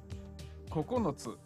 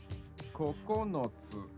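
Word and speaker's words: ここのつ: Kokonotsu. Kokonotsu. Sounds like coconuts.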